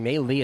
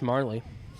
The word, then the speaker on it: Marley: I've been saying me Lee. It's Marley.